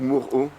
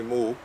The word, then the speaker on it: Moho: Oui, voilà, du coup, je te demandais, au niveau de la prononciation, c'est Moho ou Moro? C'est Moho.